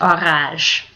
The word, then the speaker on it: orage: Careful when you spell that. Orage. is not an orange. It's orage.